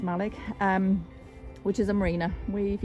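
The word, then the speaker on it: Mallaig: We know that that's pronounced Malig, which is a marina.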